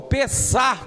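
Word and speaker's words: פסח: A palavra Páscoa no hebraico, ela é pronunciada como pesar com pH no final, que quer dizer passagem.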